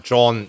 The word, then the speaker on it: Jon: Yon John. The Americans and some Europeans even call him John, but I'm going to call him Yon because I think that's the correct pronunciation.